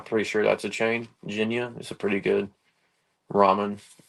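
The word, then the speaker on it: Jinya: sure that's a chain Ginia is a pretty good ramen I'm big fan of the ramen game it's uh very SLP on what how that's pronounced but it's like j i n y a so and it's pretty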